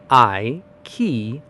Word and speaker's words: IKEA: It is just three super quick syllables with a big bright punch right in the middle. Let's piece the sounds together like furniture. The first syllable is I, sounding exactly like your own human eye. The heavy stressed middle is key, which rhymes perfectly with a metal door key or the word c.